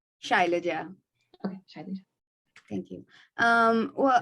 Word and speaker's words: Shailaja: Shalija, did I pronounce that correctly? Shailaja.